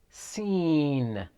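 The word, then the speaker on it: سين: the next one is seen see like a hessian sound scene next one is sheen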